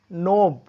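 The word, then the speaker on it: knob: तो रूल इसका यही है कि अगर के बाद यदि एन आता है, तो दोस्तों अगर के बाद यदि एन आता है तो के का उच्चारण नहीं होता, के साइलेंट होता है।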